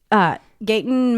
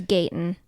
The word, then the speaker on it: Gaten: Was it Finn Wolfhard, Gaten Matarazzo? See, did I say it right that time? You did. Millie Bobby Brown, or Natalia Dyer? I think it was Finn. It was Gayton.